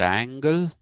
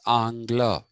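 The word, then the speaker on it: Angles: slobs and the pronunciation is not angle it is angla so that is a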